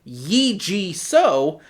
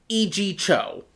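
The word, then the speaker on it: Yee Jee Tso: Because I am American and white, I just pronounced it the way it was spelled, according to American English. I was calling him Yi-Ji So, when it's actually E.G. Cho.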